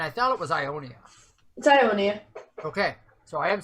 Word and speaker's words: Iounia: It's Iounia.